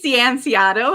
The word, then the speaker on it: Cianciotto: must go on live today's guest is donnie sienciato how are you doing today i'm doing great